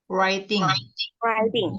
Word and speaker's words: writing: Writing. Writing. Huruf mana yang nggak dibaca? W. Nah, W, W-nya kan nggak dibaca, bukan writing ya, writing, langsung ke R.